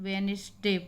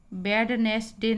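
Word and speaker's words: Wednesday: है वह ऐसा है तो इसमें डिप साइलेंट है जैसे यह सब ए वेनसडे बोलते हम इसको बुधवार वेडनेसडे नहीं बोलते हैं इसको इसमें डिप साइलेंट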